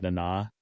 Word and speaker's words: Nana Visitor: It's spelled like Nana, like Nana, but it's pronounced like Nana Okay.